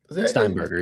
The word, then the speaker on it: Steinberger: Peter Steinberger. Is that how you say his name? I did. I did. Peter I want to get his name right. Steinberger.